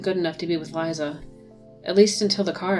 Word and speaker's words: Liza: until the car accident Liza that could be Lisa but or even Lisa but I'm choosing to believe Liza because Liza sorry Liza it's the way it's spelled I know I know